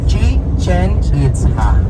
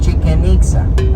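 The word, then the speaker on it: Chichén Itzá: Chichen Itza. That will be the correct pronunciation. It is not Chichen Itza, okay?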